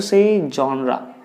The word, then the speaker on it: genre: Genre. What is the right pronunciation for this particular? You have to say genre.